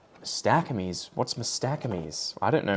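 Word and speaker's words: Mastacomys: But this thing is Mastocomes was the way they used to pronounce it, and I'd say Mastacomes.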